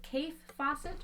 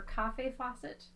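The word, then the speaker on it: Kaffe Fassett: beautiful fabrics that's Keith is it Keith Fawcett or cafe Fawcett I always want to say coffee but then I think it's pronounced Keith and he's a cool guy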